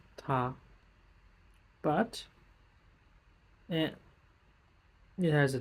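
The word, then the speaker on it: 她: It's still pronounced ta, but and it has a different radical.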